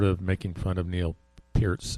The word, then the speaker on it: Peart: called him Neil per I heard it called Neil per a million times Neil P's the real thing